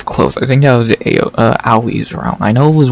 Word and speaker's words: Aoi: I don't know the way they say it, so I guess it's Aoi, not AOE or whatever.